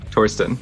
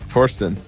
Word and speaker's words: Thorsten: also core team member the H is silent yeah Torsten Torsten okay a non-fun eye